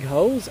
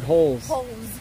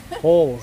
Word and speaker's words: holes: did you say big hoes or big holes holes yeah you got to pronounce the L I I was thinking